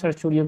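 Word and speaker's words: certiorari: हैं सरसुरियो और सरसुरी तो सरसुरी सरसुरी लिखते हैं बट इसको प्रोनाउंस सरसुरियो करते हैं।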